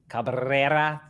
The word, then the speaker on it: Cabrera: I got like the good Cabrera.